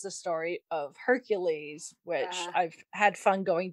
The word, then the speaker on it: Hercules: Well, because Hercules is the way the Romans said it, but in Greek is Heracles.